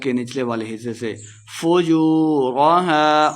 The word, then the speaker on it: فُجُورَهَا: فُجُورَهَا واو مد ہے، 2 حرکات لمبا کر کے پڑھیں گے.